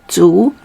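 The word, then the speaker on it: 猪: two okay to two it sounds like uh uh when you you you eat gum remember you don't eat gum you chew gum okay so two is like uh you chewing gum so two is like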